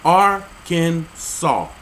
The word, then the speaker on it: Arkansas: per the state code the only acceptable pronunciation is in three syllables are can saw getting some help here